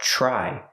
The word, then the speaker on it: try: walk try to walk the TR makes a sound like chicken plus the r try try to try to